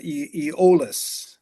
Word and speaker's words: Aeolus: And then the other example of that is where they land on the island of Aeolus, I think is the pronunciation, and he's the keeper of the winds.